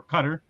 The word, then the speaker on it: Qatar: World Cup starts on Sunday with Qatar and Ecuador, or Qatar actually is how it's pronounced by most people, Qatar in Spanish.